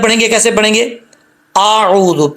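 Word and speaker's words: أعوذ: اعوذ، پہلے حمزہ کا ساؤنڈ، حمزہ کی آواز، پھر عین کی آواز، اعوذ، اعوذ، عین کو لمبا کرنا ہے۔ اکثر لوگ پڑھتے ہیں اعوذ باللہ من الشیطان، ایسا نہیں کرنا، حمزہ کو بھی کلیئر کرنا ہے، عین کو بھی کلیئر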